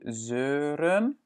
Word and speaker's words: zeuren: On dit aussi zeuren, ce qui est le verbe pour dire râler.